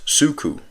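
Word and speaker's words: ψύχω: It's pronounced suku. Suko though. Strong's G 5594. Psucho. Psucho.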